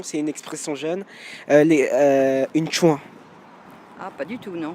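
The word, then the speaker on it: tchoin: Une chouin. Ah, pas du tout, non. Moi, non, ça me dit rien. Une chouin.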